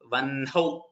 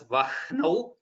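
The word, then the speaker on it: वह्नौ: It is vanhau, like V-A-N-H-A-U or H-O-W, whichever you're taking. Vanhau. That's how we are going to pronounce. According to Vyakarana, some people pronounce it as Vahnau, which is not wrong, but the traditional pronunciation stays as Vanhau.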